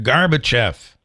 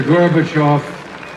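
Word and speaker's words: Gorbachev: well but do you remember him pronouncing it garbev no Dennis Quade here's here's the here is the actual clip all right this is the actual clip Mr gorbachov tear down this wall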